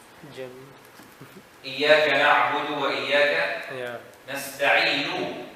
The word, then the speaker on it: نستعين: When we stop, we make sukoon. When Hafs, he has a qira'ah. If he stops, he still makes the dhamma without pronouncing the dhamma. Oh. نستعين. Have you seen the dhamma? Yeah, you just saw it, but you didn't hear it.